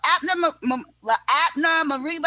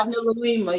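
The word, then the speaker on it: Abner Louima: do that poem about the Abner Mariba, I'm saying his name wrong, forgive me, y'all. Abner Marima, yes.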